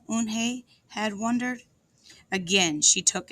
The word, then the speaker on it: Unhei: "Oh, nay," the girl asked, scrunching up her face. Oh, nay," some kids chanted. "No, Eunhae corrected. It's spelled Unhei. It's pronounced Eunhae." "Oh, it's Yo-hey," the boy said.